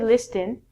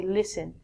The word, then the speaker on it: listen: first word is listen we don't say Liston you say listen listen is like hearing